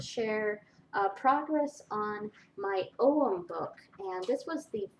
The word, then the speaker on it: Om: is the cover and this is for AUM or om however you pronounce it I think it's um supposed to be pronounced om but most people recognize the term AUM so um I put